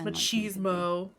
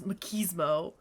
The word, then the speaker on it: machismo: i guess at ease it is italian but the american pronunciation is machismo british is makismo well i mean travis